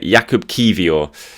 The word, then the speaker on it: Jakub Kiwior: That is how you spell it. Jakub Kiwior.